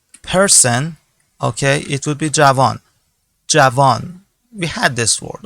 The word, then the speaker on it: جوان: For example, if you are using it about for a person, okay, it would be javan.